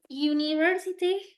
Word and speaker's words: university: al exactly Así es comoo dice su compañera University se se pronuncia como como si hubiera una una y